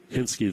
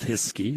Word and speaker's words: Hiskey: off the glove of hinsky the catcher or hiskey sorry said his ski institute did i write it down wrong wait saying it wrong this whole time it is just hiskey okay i just said it